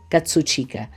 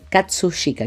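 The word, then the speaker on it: 葛飾: Pero aquí se ubica el inicio e digamos como nosotros lo conocemos recién en el siglo XIX con Hokusai Katsuchika eh Katsushika, quiero pronunciarlo bien, que fue pintor y grabador japonés.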